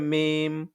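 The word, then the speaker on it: ميم: উচ্চারণ হবে হচ্ছে বা আর উভয় ঠোঁট মিলিয়ে ঠোঁটের শুকনো জায়গা থেকে উচ্চারণ হবে মিম মিম আর ঠোঁটকে গোল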